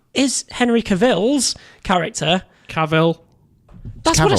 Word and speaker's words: Cavill: cavalry have come so say cavil cavalry Henry Cavill there we go Henry Cowell